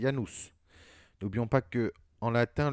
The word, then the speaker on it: Janus: dédiée à ianu ce ça s'écrit janus mais ça se prononce il ya nous n'oublions pas que en